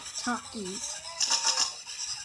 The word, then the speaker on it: Takis: Me eating something, like Takis. Or if you want to say it correctly, Takis.